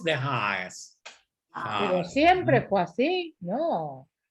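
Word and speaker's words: Den Haag: ¿Y saben cómo se dice en holandés? De Haas.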